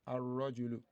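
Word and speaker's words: الرجل: Since it is starting the word, then we pronounce it with the fatha, ar-rajulu.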